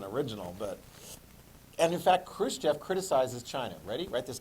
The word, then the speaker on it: Khrushchev: stalin died in 1953 starts with the k rhymes with roost jeff khrushchev yes so chris jeff is